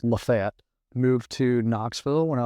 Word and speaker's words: LaFayette: It's Lafayette, Georgia, but if you're from there, it's pronounced Lafayette.